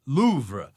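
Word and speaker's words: Louvre: the correct pronunciation is Loura with a very soft pronunciation on the R.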